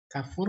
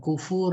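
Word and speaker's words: كفور: Kafur wazannya ghafur, bukan kufur, bukan. Ghafur, syakur. Jadi bacanya kafur, jahud, li ni'ami rabbihi alaihi.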